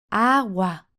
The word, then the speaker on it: agua: La sílaba que remarcamos es la primera, agua, por lo que en singular es el agua.